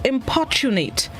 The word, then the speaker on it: importunate: day this morning's word of the day is importunate importunate it's spelled i-m-p-o-r-t-u-n-a-t-e importunit it is an adjective which